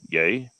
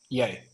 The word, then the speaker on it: Ye: had the oh shoot, how do we pronounce the last name? Yay? Yay.